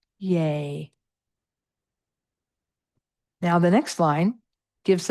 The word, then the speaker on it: Ye: What you'll see there is that Y-E, the final E is pronounced as the syllable A-Y, Yay.